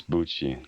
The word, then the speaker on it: Bucci: It's Joe Bucky, all right? It's Bucci. He pronounced it Bucci, I'm fairly sure.